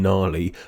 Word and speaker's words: gnarly: silent D in hedge, a silent G in gnarly, a silent H in